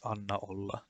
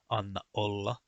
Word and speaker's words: Anna olla: For example, when you say the words Anna olla, they are not pronounced as Anna olla, no, they are pronounced as Anna olla. I don't know if you can hear a difference there, but I can feel the difference when I say it.